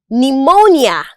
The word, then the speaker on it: pneumonia: The letter P is silent in the word psychology, psalm, pneumonia, and so on.